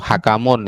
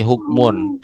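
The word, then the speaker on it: حكمٌ: Jangan hakun atau hakamun ya. Ini hukmun.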